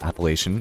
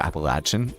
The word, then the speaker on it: Appalachian: Um, and this is not to say that that Appalachian or Appalachin, I don't know how you say it. I like Appalachian, but it could be Appalachin depending on where you're from, too.